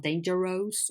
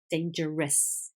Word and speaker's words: dangerous: and the pronunciation that owe us is not O's it's us so danger rests rests pretentious it's not dangerous or pretend shows it's dangerous pretentious and in this case pretentiousness two very very weak syllables at the end of the world okay let's continue we'll